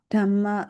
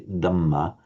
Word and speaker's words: Dhamma: So what you were clearly doing there, you were correctly giving it the aspiration, because in Burmese you say Dhamma, whereas in Pali, Dhamma.